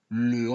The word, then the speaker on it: le: Si en lugar de pronunciar le, pronuncio le y digo le garçon s'appelle Jean, estaría diciendo los chicos se llaman Jean. Y la frase no dice los chicos, dice el chico.